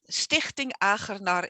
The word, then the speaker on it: Stichting Achernar: Stichting Achernar is the Dutch pronunciation, and Achernar is a fixed star and is on my ascendant, and Stichting means foundation.